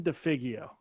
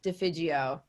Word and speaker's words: Defigio: it go ahead defio so close it's soft g defijio the fidgeo italian yes